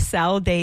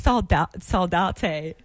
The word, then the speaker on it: Saldate: We've been saying Josh Saldate, and he goes, by the way, it's Saldate.